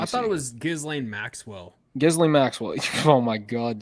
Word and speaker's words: Ghislaine Maxwell: And we are talking about, can anyone pronounce that first name? Maxine Giswell? Maxine Giswell, I think. Hold on, let me I see. thought it was Ghislaine Maxwell.